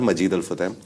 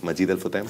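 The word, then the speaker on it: Majid Al Futtaim: Alfam group basically not Majid Alfam. Majid Alfam is the right pronunciation, but everyone calls it Majidal Futam.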